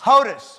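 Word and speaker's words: Hodes: go ahead what you want to say I spell it h-o-d-e-s hotis okay I'm here it's hodies hodies okay whatever you're gonna do hoadies hoties all right and that's number 11 right okay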